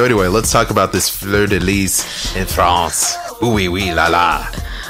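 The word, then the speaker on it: fleur-de-lis: Fleur de lis? Yeah, Fleur de lis.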